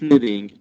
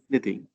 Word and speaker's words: knitting: Whenever you find K is followed by N, don't pronounce the K. The K is silent. So it's knitting, not kind of thing, as you said. Knitting.